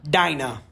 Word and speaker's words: Dinah: And the Bible says later, continues later, she gave birth to a daughter, named her Dinah, or Dina, however you would like to pronounce it.